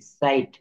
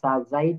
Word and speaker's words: sight: SIGHT, সাইট। MIGHT, মাইট। তো এখানে কি বলছে? IGH এর উচ্চারণে জি উচ্চারিত হবে না, IGH এর উচ্চারণে জি উচ্চারিত হবে না, সেই অংশটুকু উচ্চারণ হবে আই।